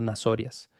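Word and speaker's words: Ναζωραῖος: Ahora capta la forma en que pronuncio esto, nazorias. Observe que hay una O larga, nazorias.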